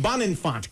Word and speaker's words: Bonenfant: your last name I forgot already bond and bond Infante got it I wanted to meet you how